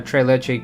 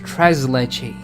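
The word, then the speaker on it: tres leches: and then everyone's like no no no it's tres leche like you say the tres zaptos mo tress it's not m it's mo tress and I'm like ah but French French has told me that the s is silent at the end of words.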